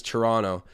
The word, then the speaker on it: Toronto: the correct pronunciation is toronto they're talking about toronto you guys get what i mean it's like a silent t when people hear when